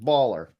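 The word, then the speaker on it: BALR: It's spelled B-A-L-R period, baller.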